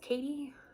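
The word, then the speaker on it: Khaite: i think it's pronounced katie um k h a i think it's i t e i don't know um vanessa high-rise straight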